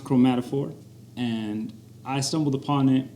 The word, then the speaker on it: Chromatophore: So it's pronounced Chromatophore, and I stumbled upon it probably maybe 2-3 years ago.